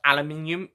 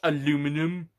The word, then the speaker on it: aluminium: And whilst we're honest, this isn't related to X-Men Origins Wolverine, but aluminium is the correct way of saying aluminium, not aluminum.